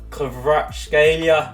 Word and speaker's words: Kvaratskhelia: Moving on to another target, you've got Kvaratskhelia, I think is how you pronounce it, from Napoli.